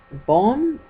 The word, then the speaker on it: Bohm: It was David Bohm, I think that's how you pronounce his name, B-O-H-M if you want to